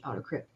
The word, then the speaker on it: AutoCrit: as in-depth as pro-writing Aid and autocrit and that's spelled a u-t-o-c-r-i-t autocrypt um they will give you actually like writing